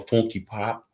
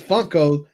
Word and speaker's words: Funko: You said funky pops. Even though it's Funko, but I like funky funky funky. Well, it sounds better. Yeah. Funky. Do you want to get Funko?